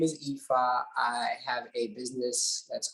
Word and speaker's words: Ifa: is branded and uh acronym is EFA which is the pronunciation of my name uh what I do